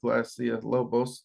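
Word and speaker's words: Glasya-Labolas: could really go anyway I do know when I have pronounced that glassia Lobos to um The Entity itself never had an issue so for me and at least my relationship with the entity I'm gonna go with that so if you pronounce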